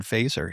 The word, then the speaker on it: Feser: I'd point people to Edward Feser here, spelled like Fesser, F-E-S-E-R.